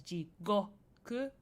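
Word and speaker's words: 地獄: So you have jikoku as in hell, and jikoku as in time. They have different pronunciations. One is jigoku with a G, go, but then the other jikoku, with a ko instead of a go.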